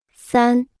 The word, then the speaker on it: 三: 三，三，三，三，三，三，三。 Se pronuncia con el primer tono.